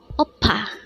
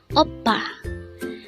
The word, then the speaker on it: 오빠: OPPA. OPPA. This word is composed of two syllables. The first syllable is O and the second syllable is PA.